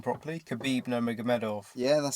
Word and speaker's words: Nurmagomedov: I say his name properly, Khabib Nurmagomedov.